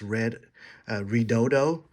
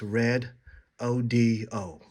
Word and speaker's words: Redodo: I was told that I used to think it was pronounced red uh rodo but it's pronounce red o d o I think okay post